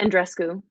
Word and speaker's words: Andreescu: talking a lot about Bianca, how do you pronounce her name? And Andreescu? Bianca Andreescu.